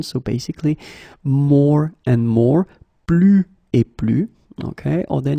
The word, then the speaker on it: plus: Okay, so you can see that I don't pronounce it final S.